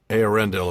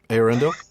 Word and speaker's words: Eärendil: I think when I first read the book, I was trying to stress the A, so it was Eärendil. Oh, yeah. Instead of Eärendil.